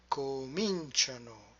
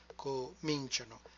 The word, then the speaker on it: cominciano: Cominciamo, and we finish with cominciate, and finally cominciano with the retracted stress, cominciano. Loro always retract the stress by one syllable.